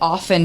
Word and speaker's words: often: I just learned that often doesn't You're not supposed to pronounce the T.